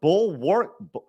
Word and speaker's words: bulwark: the bulwark of what bulwark? Arch, what am I saying wrong here? What is that word? Okay. Bulwark. Bulwark. You don't pronounce the A because it's English and it's a dumb language.